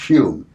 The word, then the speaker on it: Home: home or human out spelled hom e pronounced cube are you a bleed